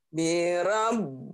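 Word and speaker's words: بِرَبِّ النَّاسِ: laattinnya nih kebaca jadi ee b-nya dua seperti ditahan birab Bin n-nya malah Banyak n-nya tiga bisa sampai empat gunah birabinas birabbinas coba lagi birabbinas nah coba dari Qul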